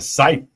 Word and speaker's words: scythe: A scythe.